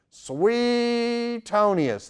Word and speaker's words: Suetonius: from sweet Tony acai always liked the way the great pastor w8 Criswell pronounced the name of this historian he didn't say sweet Tony as he said sweet toniest that's SW EE EEE T of ni us Suetonius also was a